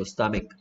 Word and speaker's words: stomach: 스펠링 주의하시고요. 스토마치 아니고 stomach.